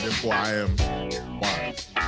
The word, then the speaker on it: Why-Z: So, I'll start off by saying my name is Wise. It's WH Hy Z. Um, not to be mistaken with W I E.